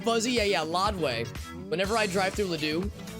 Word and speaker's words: Ladue: Whenever I drive through Ladue, my old GPS on my old phone used to pronounce it as Lodway, which actually might... Let me think about this. Actually, that might be the actual pronunciation, like the French pronunciation.